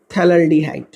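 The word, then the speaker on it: phthalaldehyde: हैं, तो इसका स्पेशल नेम है थैलाल्डिहाइड, P साइलेंट होता है, थैलाल्डिहाइड।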